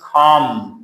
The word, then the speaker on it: calm: For example, calm, آرام, L is silent here.